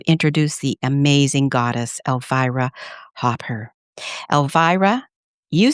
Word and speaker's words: Hopper: And And is your last name Hopper or Hooper? It's Hopper, and my first name is pronounced Elvira.